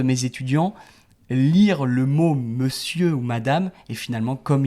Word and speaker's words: monsieur: du temps parce que avant on disait monur et on peut l'entendre encore dans des pièces de théâtre un peu vieilles mais mais non maintenant on ne le prononce plus comme ça avec la pratique. La prononciation c'est lycée et donc c'est monsieur monsieur en fait qui était